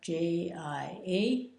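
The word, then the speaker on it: 家: a pink hair job pronounced ji a in the first tone run his man and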